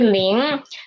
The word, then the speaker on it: 零: So when I said pronounced 零, at the end of 零, my tongue position is still at here. My nose is still working and the position of my tongue is still rising up.